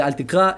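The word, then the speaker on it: אל תקרא: Se dice altikra en hebreo, en arameo es altikre. Y él escribe altikrei porque quizás lo tomó en inglés, pero se pronuncia altikre.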